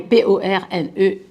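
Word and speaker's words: πορνεία: Je ne prononce sans doute pas correctement en grec, mais le terme est P-O-R-N-E-I-A, porneia.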